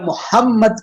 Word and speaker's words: محمد: تو اس کا مطلب ہے ہم میم کو 2 دفعہ پڑھیں گے. اسی لیے ہم جب محمد کے سپیلنگ بھی کرتے ہیں ہم کیا کرتے ہیں؟